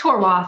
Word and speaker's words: Horwath: Is it Horwath or Horwath? It's Horwath.